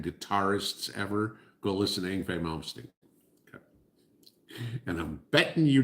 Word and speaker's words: Yngwie Malmsteen: Yngwie Malmsteen. Yes, I can pronounce it right because I know the band.